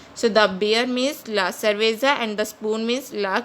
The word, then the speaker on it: cerveza: Here C is used with E, it is pronounced as cerveza, which means the beer in Spanish. So the beer means la cerveza and the spoon means la cuchara in Spanish.